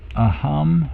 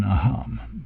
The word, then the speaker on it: aham: So because otherwise, if you were to follow the real rules of, or so-called real rules, you would put the stress on the first A here in aham, but they're so commonly used, and so that they sort of have morphed into a special pronunciation.